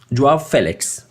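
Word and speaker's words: João Félix: so uh joa Felix dwarf Felix to pronounce him correctly he managed a golf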